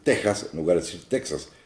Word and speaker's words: Texas: Bueno, como tiene una X, yo prefiero equiparar a la palabra México, que también tiene una X, pero lo pronunciamos con sonido de J en esta derivación española de las propias lenguas indígenas. Así que, como no decimos México, porque no somos gringos, decimos México, yo prefiero decir Texas en lugar de decir Texas.